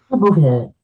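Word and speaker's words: Bouverie: I think Bouvier uh Pusy, how would you pronounce it? Bouvier.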